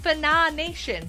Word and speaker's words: Fana Nation: It's pronounced Fana Nation, by the way.